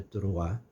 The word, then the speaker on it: Troyes: una ciudad que es la ciudad de toroa así se pronuncia hoy pero probablemente la época en que recién vivía en ella la denominaban troyes porque así él lo escribe que cuando él escribe escribe troye si no escribes quedaba